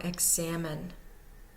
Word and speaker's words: examine: 1 or 2 one0 we have a 010 pattern over examine if it's pronounced the Canadian way so the first syllable is said to be unstressed there is a zero the second syllable has the one so we know that's going to be our primary stress and the last syllable is also unstressed examine and the middle syllable is greatly stressed more so than the others we now have numerical